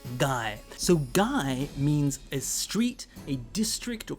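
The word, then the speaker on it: 街: it's connected to another word it actually is pronounced guy so guy means a street a district or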